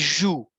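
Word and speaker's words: jouent: Et on ne le prononce pas, mais on l'écrit. Je dis joue, joue, j'arrête la prononciation ici.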